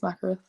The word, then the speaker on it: Mackereth: Sometimes they pronounce like Mackereth, stuff like that. But like it's just Mackereth.